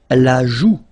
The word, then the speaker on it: joue: La joue. La joue. Final E not pronounced here. La joue.